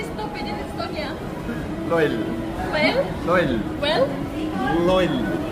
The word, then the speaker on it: loll: Loll. Well? Loll. Well? Loll. Loyal?